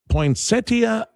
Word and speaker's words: poinsettia: Is it poinsettia or is it poinsettia?